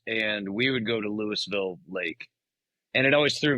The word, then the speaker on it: Lewisville: we would go to Lewisville Lake and it always threw me off because it's not pronounced Louisville even though it's spelled the same way. It's Lewisville. You pronounce the S in that one.